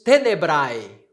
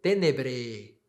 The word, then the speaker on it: tenebrae: E aqui nós temos tenebrae, ou tenebre, na pronúncia eclesiástica, tenebre.